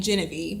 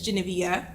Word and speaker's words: Geneviéve: we have the beautiful, I was pronouncing her name Genevieve, but it's Geneviéve Jones-Wright, right? Okay.